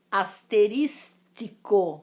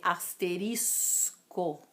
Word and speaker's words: asterisco: na informalidade as pessoas algumas falam asteristico é o correto é asterisco tá outra palavra travesseiro